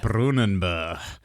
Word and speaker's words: Brunanburh: It's the Battle of Brunanburh. The Battle of Brunanburh. Okay, let's have a... That sounds better. That sounds like it. Brunanburh.